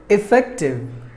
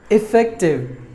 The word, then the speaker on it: effective: There are 3 syllables in this word, and we have to stress the second syllable. Fact should be given more volume than the rest of the syllables.